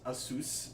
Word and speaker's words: ASUS: happy I know that according to the company it's pronounced a soos but I I just